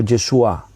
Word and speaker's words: Yeshua: pronunciaba así en hebreo si tú oyes hablar a un hebreo y escuchas el nombre jesús en boca de un hebreo pues la expresión viene a ser algo así como yeshua una forma así nosotros